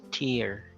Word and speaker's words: tear: If it means the watery substance falling from your eyes, that's pronounced as tear, teardrops. But if you refer to the verb meaning uh, to tear down, okay, so to rip,